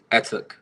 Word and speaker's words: Etuk: It is pronounced. Wait. I just said. Yeah. Etuk.